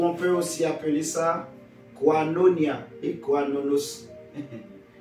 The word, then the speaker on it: koinonia: que ça veut dire quanonia ça s'écrit k o i n o n I a donc je répète quanonia